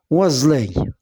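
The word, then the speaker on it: oiselet: Oiselay, oiselay, S se prononce Z. Pourquoi? Parce qu'il se trouve entre deux voyelles, I et E.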